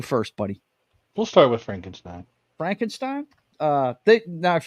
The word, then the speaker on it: Frankenstein: the first one is Frankenstein or Frankenstein if you uh pronounce it the Mel Brooks way uh let's see